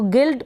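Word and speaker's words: guild: सिर्फ गाइड में नहीं पढ़ रहे हैं, एल आ रहा है वहाँ पर हम प्रोनाउंस कर रहे हैं आई के बाद। तो गिल्ड का मतलब है संघ या संगठन।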